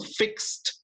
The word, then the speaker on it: fixed: A diferencia del fixed que veíamos hace un rato, fixed termina en X, esa ED suena como T.